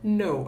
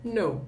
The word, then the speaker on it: know: E sempre palavras que tem KN, o K não é pronunciado, tá? Então, se fala know, apesar de ser escrito know, né? Eles falam know apenas.